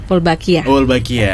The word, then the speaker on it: Wolbachia: Bener bacanya seperti itu ya? Wolbachia.